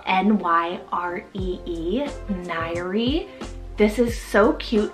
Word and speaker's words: Nyree: Nyree, spelled N-Y-R-E-E, Nyree.